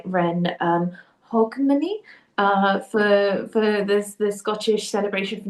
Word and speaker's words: Hogmanay: And I hope I pronounce this right, Ren Hogmanay, for the Scottish celebration for New Year's, and